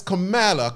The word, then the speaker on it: Kamala: Omar's voice Cala Harris Kamala Kamala Cala somebody said I pronounced her wrong her name wrong it's all about dialect y'all Kamala CA Kamala Cala